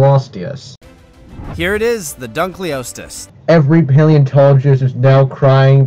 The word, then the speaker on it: Dunkleosteus: osteus don't call osteus here it is the Dunkleosteus every paleontologist is now crying because of you pronouncing Dunkleosteus this wrongly come on Dunkleosteus Dunkleosteus